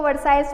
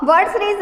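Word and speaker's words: Versailles: ठीक है, वैसे इसको हम वर्सरीज भी बोलते हैं, कहीं इसको वर्साइज बोलते हैं, बट इसका राइट प्रोनाउंसिएशन हम देखें तो वर्सरीज है।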